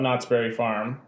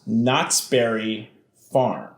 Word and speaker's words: Knott's Berry Farm: says not berries well the only thing i ever heard about knott's berry farm even from how i'm saying it you can tell i thought it was knottsbury farm i thought knott's berry was the was the oh it's like like somebody's last name was knottsbury and this is the knottsbury farm which is a theme